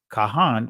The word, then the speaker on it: Kohen: We're going to deal with the Kohen, right? Or Kohanim, right? But this is the ancient pronunciation. Kahan, we're going to deal with them real quick.